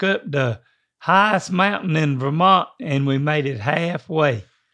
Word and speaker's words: Vermont: say Vermont dad Vermont you got to emphasize the ver is that how they say it up there welcome to Vermont uh no I think that that they said Vermont right they emphasized the Mart I think but don't